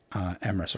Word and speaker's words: Emrys: Here we're gonna raid Emrys, because obviously we have to raid Emrys Rhymes with Abyss, because that is what we do here.